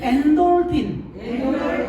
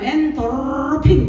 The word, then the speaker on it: 엔돌핀: 어떤 사람 엔도르핀 그렇게 말을 합니다. 일본 사람들은 밑에 발음이 안 되거든요. 그래서 그 사람들은 엔도르핀 이렇게 말을 해요. 근데 우리는 다 되죠. 우리는 발음 다 돼요. 안 되는 거 없어요. 그래서 엔돌핀이라고 하죠.